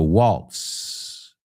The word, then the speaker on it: waltz: So, waltz. Z, pero se pronuncia como una S. Y la T se cuela ahí.